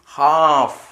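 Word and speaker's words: half: ഉപദ്രവം എച്ച് എൽ എഫ് എല്ലിനു ശേഷം ഏതെങ്കിലും വവൽസ് ഉണ്ടോ ഇല്ല അപ്പോ ഈ എല്ലും സൈലന്റ് ആയിരിക്കും എന്തുവരും ഹാഫ് എന്താ വായിക്കുക ഹാഫ് ഹാഫ് പകുതി ഹാഫ് പകുതി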